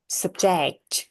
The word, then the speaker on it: subject: เอา มา เพส เลย ตัว ที่ เน้น ก็ คือ อ่า stress str อื ก็ คือ เน้น หนัก ออก เสียง หนัก ที่ เจ็ก ค่ะ sub เนี่ย ก็ จะ ออก แค่ แบบ เป็น เ Subject Subject ประมาณ นี้ เรา ก็ มา ลง